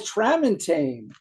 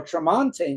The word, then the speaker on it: Tramontane: And this is a rare Foreigner instrumental, and it's called Tramontane or Tramontane. You can pronounce it either way.